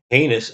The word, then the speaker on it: heinous: and committed the following heinous acts, and that's spelled with an E-I. E-I in a lot of languages sounds like A.